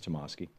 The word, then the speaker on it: Tomasky: Michael Tomasky wrote this, or Tomasky, I'm not sure how he pronounces it. I think it's Tomasky, for the Daily Beast.